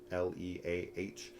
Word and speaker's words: Leah: L E A H. How's that said? Leah. Leah.